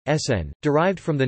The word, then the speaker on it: CERN: pour la Recherche Nucléaire, known as CERN, French pronunciation, SN, derived from the name Conseil Européen pour la